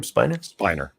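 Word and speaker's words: Brent Spiner: And I'd forgot Brett Spinner. How do you say his name? Spiner.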